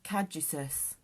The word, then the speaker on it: caduceus: On the magician's chest is caduceus, one of Mercury's sacred symbols. It's spelled CADUCEUS, in case we're pronouncing it wrong.